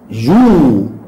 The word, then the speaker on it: jouent: Les élèves jouent. Il y a, moi je vois ENT, mais je n'entends pas. Je ne prononce pas les lettres ENT à la fin du verbe avec le pronom il avec S et elle avec S.